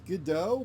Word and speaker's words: Godot: is I might use Godot, but I don't like Godot, or Godot, as it's phonetically, it's how it's actually spelled, Godot.